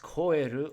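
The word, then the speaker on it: 肥: Pronounced koeru or hi, this kanji has our month radical on the left side.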